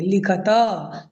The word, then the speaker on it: लिखत: उसको ध्यान दीजिएगा उत्तरम लिखत लिखत नहीं आप लिखत नहीं बोलेंगे लिखत त पूरा है इसलिए उसको पूरा उच्चारण करेंगे चित्रम द उत्तरम लिखत